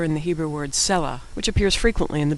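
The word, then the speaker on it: סלה: S is the first letter in the Hebrew word cellah which appears frequently in the biblical book of psalms.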